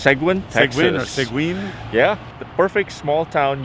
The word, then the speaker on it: Seguin: the pronunciation really but i think it's segwin yeah the perfect small